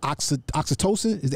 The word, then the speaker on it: oxytocin: Is there a way to restore the chemical oxytocin? Am I pronouncing it properly?